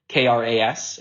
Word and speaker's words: Kras: I think even in my family, there's a division on how it's pronounced, but I've always said Kras, so that's kind of what I've been going with.